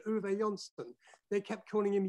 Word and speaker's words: Uwe: he developed a name for himself they couldn't pronounce his name they couldn't say uon they kept calling him yui so you know they didn't know that if